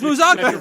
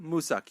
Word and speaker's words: Musacchio: It is Musacchio. wrong. So I have to emphasize the Musacchio. yes. Ah, Manuela Musacchio. The emphasis is on the second syllable.